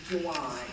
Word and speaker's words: Gian: And just for everyone out here looking at me, when you say Gian, my correct pronunciation is Juwan.